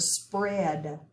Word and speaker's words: spread: a sound next word spread spread we're going to underline ea we do not hear the a so it makes the e have a short e sound next one stork we